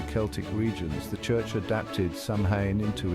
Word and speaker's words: Samhain: Halloween traces its origins to the ancient Celtic festival of Samhain, pronounced Samhain, celebrated around 2,000 years ago in what is now Ireland, the UK, and parts of northern France.